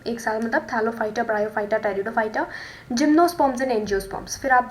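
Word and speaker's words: Pteridophyta: तो नेक्स्ट जो है हमारे पास वो है टेरिडोफाइटा, पी साइलेंट होता है टेरिडोफाइटा, ठीक है।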